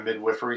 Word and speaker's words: midwifery: My wife's an amazing photographer and artist, and going to midwifery school. And yes, that's the right way to say that word, midwifery.